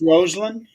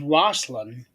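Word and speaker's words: Rosslyn: pronounced Roseland. Roseland. Okay. Yeah. When I read it, it reads like it's Roslyn Yeah. because of It's that Russian pronunciation.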